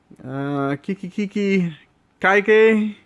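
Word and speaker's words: Kiki Kaikai: Kiki Kaike. Kiki Kai. That's how you say it.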